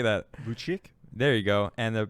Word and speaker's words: Vučić: Vučić?